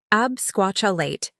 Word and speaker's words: absquatulate: that five times fast word number eight absquatulate pronunciation absquatulate meaning to leave suddenly or flee ever bailed